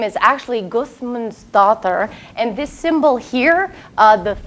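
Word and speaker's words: Guðmundsdóttir: Her last name is actually Gudmundsdottir. And this symbol here, the theta, is pronounced like a T-H. It looks like a D with a line through it but is pronounced like a T-H.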